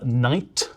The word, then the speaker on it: knight: take the word uh Knight or no Once Upon a Time people genuinely did pronounce the k at the start of Knight they'd say k or